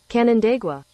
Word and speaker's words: Canandaigua: it was actually relocated from Roseland Park in canadagua if we get pronounce it luckily we do have Siri to help us out with apps hey Stewie how do you pronounce the city that skelina came from Canandaigua thank you all right so candidate with New